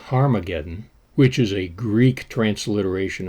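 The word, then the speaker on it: Harmagedon: called Armageddon Revelation 16:16 in the earliest Greek text the name of the place is pronounced harmageddon which is a Greek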